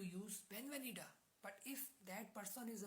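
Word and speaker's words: venida: बी आई E when वेनीडा वेनीडा नॉट वेनिडा वेनीडा वेनीडा वेनीडा the spelling of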